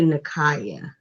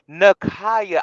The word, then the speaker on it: Nikaya: before I go there, it's actually Nikaya. What? Wait. What now? It's actually my name is pronounced Nikaya. Nakaya.